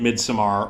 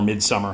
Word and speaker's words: Midsommar: Ari Aster has gone on to make the brilliant Midsommar, or Midsummer, however you want to pronounce it, which is hilarious and scary, a great piece of satire, the best breakup movie ever made.